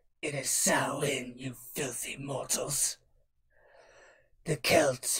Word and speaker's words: Samhain: date back to the ancient Celtic festival of Samhain properly pronounced it is sell in New Jersey mortals the Celts who lived 2,000